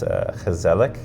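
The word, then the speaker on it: gezellig: Um and I lived in Holland for 2 years and they had a word um it's pronounced and I don't know if I'm going to get it perfect. It's kazelic.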